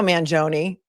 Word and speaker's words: Mangione: And we found that, or I found anyway, that his Mangione, they pronounce it Mangione. And the reason I know that is because Nico Mangione, who is the cousin of Luigi, is he's a politician in Maryland.